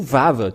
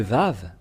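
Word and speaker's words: ו: V selon Wikipédia et même si vous dites vav W ou vav tout simplement ça se lit toujours V voilà et donc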